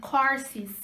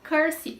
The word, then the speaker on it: courses: e que significa curso, ela é pronunciada da seguinte forma, courses, ou course, no plural. Não se fala curse.